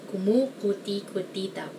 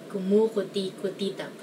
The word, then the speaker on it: kumukuti-kutitap: Kumukuti-kutitap. I guess the only way to pronounce this is to remember all the syllables. Kumukuti-kutitap.